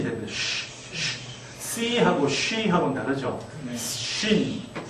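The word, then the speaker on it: שׁ: 시옷 발음이죠. sin. 그 다음에 점을 오른쪽으로 옮기면요. shin이 됩니다. C하고 she하고는 다르죠. shin.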